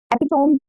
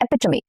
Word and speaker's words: Epitome: Epitome? Incorrect. Epitome. Epitome. Okay, very common word. How do you pronounce this?